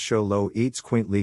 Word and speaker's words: Xoloitzcuintle: since the name zolo at swintley which is pronounced show low eats quint lee combined show all the aztec god of the